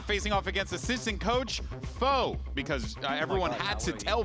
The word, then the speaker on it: Fo: me multiple times that I got his name wrong last week. So thank you for that. I kept saying Pho because I had soup on the mind.